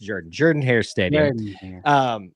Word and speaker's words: Jordan-Hare: Let's be clear; it's pronounced Jordan. I'll forgive the Bama fans for mistake, but I would get butchered if I didn't correct myself on that. It's pronounced Jordan-Hare Stadium.